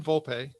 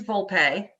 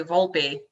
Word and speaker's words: Volpe: pronunciations to make sure well it is volpe but a lot of people say volpe and also people say volp it is not volp good uh and you